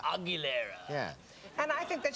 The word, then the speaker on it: Aguilera: said he said christine agriculture but how do you say her name this is how how she says it i believe christina aguilera christina aguilera aguilera yeah and i think